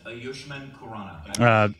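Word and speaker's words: Ayushmann Khurrana: proper pronunciation is Ayushman Khurrana.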